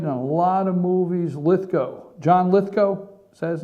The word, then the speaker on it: Lithgow: The guy, Ludwig or well, I forget his last name, how you pronounce it. He played in Third Rock. He's played in a lot of movies. Lithgow, John Lithgow, is that his name?